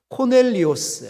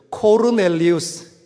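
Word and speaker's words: Κορνήλιος: 여기에 등장하는 인물 고넬료, 원문의 정확한 발음은 이렇습니다. 고넬료는 아니고 코넬리오스. 한번 따라해볼까? 코넬리오스. 발음은 좀 더 굴려야 됩니다. 코르넬리우스.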